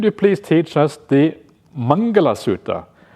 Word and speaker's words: mangala: Dear Ajan, could you please teach us the mangala suta? The mingala suta mingala I think is the Burmese trans the Burmese pronunciation of mangala mangala suta one day